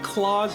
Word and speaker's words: Claus: cowboy character named claus well you can also pronounce it crows too but i think claws makes a lot more sense once you figure out